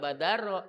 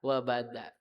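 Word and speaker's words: وبدا: jabini abdillahibnil mlibi wnihi abdillah bacanya enggak badaro tapi waba wabada kalau kita enggak ngaji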